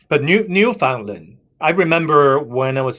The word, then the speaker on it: Newfoundland: So anyways, the stress is on the word new.